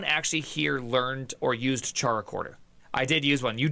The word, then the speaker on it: CharaChorder: Caracorder. Oh, it's pronounced Caracorder.